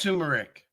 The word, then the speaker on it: turmeric: It's pronounced turmeric. It's got another R in there now.